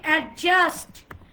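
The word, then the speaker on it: adjust: আমরা বলি অ্যাডজাস্ট, অ্যাডজাস্ট, অ্যাডজাস্ট। ডিটাকে silent করে দেন। কি হলো? অ্যাডজাস্ট, অ্যাডজাস্ট, অ্যাডজাস্ট। জের উপর স্ট্রেস হবে।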